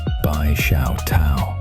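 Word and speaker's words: 白手套: as a white glove, pronounced as Bai Xiao Tao in Chinese, which is someone who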